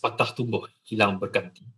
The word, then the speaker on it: patah tumbuh hilang berganti: It's pronounced patah tumbuh hilang berganti.